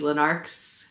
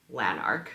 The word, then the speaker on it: Lanark: this and it is lanarch so this is this is the lanarch sweater and it is a